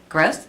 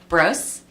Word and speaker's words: Brose: We'll start with Kiana Gross. I'm sorry, I'm saying it wrong. Kiana Brose, and she's an 8th grader at Liberty.